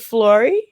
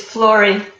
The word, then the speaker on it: Flori: to the show so is it flory it's florie i can't i did